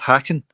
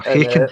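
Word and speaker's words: Häcken: Aberdeen against Hacken. Or Haken. I think it's pronounced Hacken.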